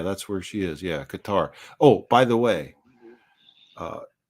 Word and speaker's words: Qatar: the area the region it's Qatar not not cutter because cutter rhymes with gutter so don't do that